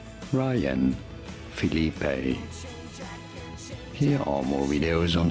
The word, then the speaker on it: Phillippe: How do you go about pronouncing it? Ryan, that you already knew. And no, it is not Phillippe, neither is it Phillippe, but rather Phillippe. Ryan, Phillippe.